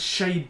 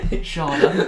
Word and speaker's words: Schade: He squares it to this Shade bloke. Takes it all full touch. Yeah, I can't pronounce his name in German. Schade. Oh. It's spelled Shade.